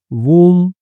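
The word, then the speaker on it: womb: बी जो होता है वो साइलेंट होता है। इसमें जैसे कॉम्ब होता है ना सी ओ एम बी कॉमब। कोम मतलब कंघी। ठीक है? तो कोम में भी बी साइलेंट होता है। ठीक है? तो वैसे ही यहां पर भी बी जो है वह साइलेंट है।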